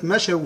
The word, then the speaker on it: مشوا: الصفر المستدير شكل الدايره يعني هذا لا ينطق لا وصلا ولا وقفا يعني ليس له ايه تاثير على الكلمه تقول مشو فيه تخرج من الواو الساكنه